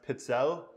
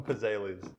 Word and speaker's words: pizzelle: sometimes make Pez Ailey's which I now know are pronounced pizza but we always call him pizzelles but yeah she would